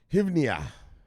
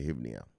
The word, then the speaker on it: hryvnia: Is it Hryvnia? How do you say that? Hryvnia. We're just going to say Hryvnia.